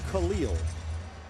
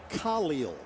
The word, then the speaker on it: Khalil: Not Khalil. It is Khalil. Emphasis on the Ka.